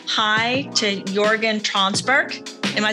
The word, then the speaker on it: Jörgen Tranberg: I want to say hi to Jörgen Tranberg. Am I saying that right, Jörgen? Yeah, you actually pronounce it perfectly, so thank you.